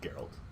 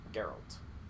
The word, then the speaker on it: Geralt: different versions of um geralt or Gerald I'm gonna say his name wrong the whole time it's geralt geralt I'll teach myself I